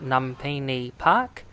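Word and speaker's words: Lumphini Park: I believe it's pronounced Numpini Park.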